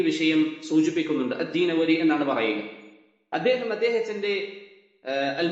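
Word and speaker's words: الدینوری: എന്ന് വായിക്കാറുണ്ട് അള്ളാഹു ആലം അതിന്റെ ഏറ്റവും ശരിയായ ഉച്ചാരണം ദീനവരി എന്നാണ് ഇബ്നുൽ അക്കീർ അദ്ദേഹത്തിൻറെ അൻസാബ് എന്ന കിതാബിൽ ഈ വിഷയം സൂചിപ്പിക്കുന്നുണ്ട് അദ്ദീനവരി എന്നാണ് പറയുക അദ്ദേഹം അദ്ദേഹത്തിൻറെ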